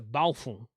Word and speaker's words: Baofeng: boy don't do that okay but it's a balfour radio or as richard lenoir from main trading